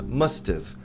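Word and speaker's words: must've: É só deletar ha e colocar um apóstrofo no lugar. Tem must, essa pronúncia. Mustive.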